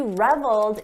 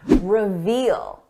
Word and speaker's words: revel: just an important note don't confuse the pronunciation with the very common word reveal we're talking about revel revel reveal Revel notice the difference in the vowel sound this is a short sound o Revel long sound reveal he reveled in